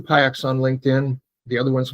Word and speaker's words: Piuck: There are only 2 Piucks on LinkedIn. The other one's my sister. So her name is Hope. If you get to Hope Piuck, you keep looking, but there's only one Frank Piuck on LinkedIn.